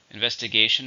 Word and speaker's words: investigation: then we have investigation investigation is the same meaning but this is a countable noun how many syllables are an investigation 5 stress on the 4th investigation the police investigation